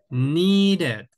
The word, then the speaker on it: needed: ya se pronuncia diferente Aquí sí pronunciamos okay el ID decimos want Wanted sí want Wanted need needed sí Wanted needed okay Ahí